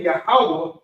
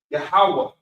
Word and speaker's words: Yahweh: It's really just like a breath at the end of it. Ha. Yahweh. Yahweh. Very subtle, almost like a silent character, silent word, silent letter.